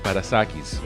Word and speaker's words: Parassakis: Now, Theo is Greek, so I'm going to say how it should pronounce in Greek is Parassakis, okay?